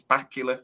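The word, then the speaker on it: Bakula: and he said look everyone says my name wrong and it's bacula like dracular right and it's quite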